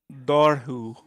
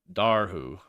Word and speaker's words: Dobhar-chu: One quick thing, it's pronounced Dobhar-chu. Dobhar-chu.